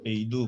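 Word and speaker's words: 北斗: 그래서 일단은 중국 제품들은 여기 우리가 북두 칠성할 때 그 북두가 이름 중국 발음으로 하면 베이두예요. 베이두 뭐 이렇게 얘기하는데 중국에서는 초기에는 그 우리나라처럼 로컬 시스템부터 먼저 운영을 했다가 작년인가 재작년은 아니구나.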